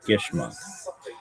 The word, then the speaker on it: Geschmack: If your nephew Geschmack, pronounced Geschmack, is a Yiddish word that means delicious, pleasurable, fun.